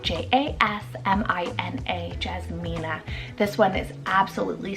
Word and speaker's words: Jasmina: Another one here that's floral inspired, we have Jasmina, spelled J-A-S-M-I-N-A, Jasmina.